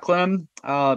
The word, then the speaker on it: Clem: just giving an introduction of who is Clem, right? Is that pronounced your last name properly? Yeah. That's it. Yeah. Well, thanks. This is fun. Always a privilege to do stuff like this. So I'm Clem, married for what, going on 20 years.